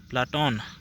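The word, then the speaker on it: Πλάτων: इसलिए उसके शिक्षक उसके व्याम शिक्षक ने उसे प्ले प्लाटोन कहना शुरू किया। प्लाटोन का अर्थ होता है चौड़ों कंधों चौड़ा कंधे वाला। चौड़ा चपटे चौड़ा और चपटा। प्लोटो शब्द यूनानी का उच्चारण प्लेटोन है।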